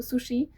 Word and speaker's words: sushi: ponieważ właśnie na przykład w przypadku sushi często wymawiają się go jako takie twarde shi i to jest błędem. Nie jest to też także takie si jak polskie. To jest coś pomiędzy tymi dźwiękami.